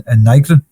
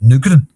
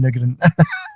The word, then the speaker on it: Nygren: Where's the U comfy in Nygren? It might be Nygren, it might be Nygren. It certainly isn't Nugren. Well, Nygren, he gets the equaliser, John Nygren.